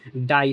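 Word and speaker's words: die: Fourth rule जब किसी word के लास्ट में अगर आई इ आता है फिर आई का उच्चारण आई ही होता है। जैसे डाई तो ये देखो वर्ड के लास्ट में क्या है? आई और ई तो यहां पे डाई बोलोगे। डी का बन गया ड और आई ई को आई ई पढ़ेंगे।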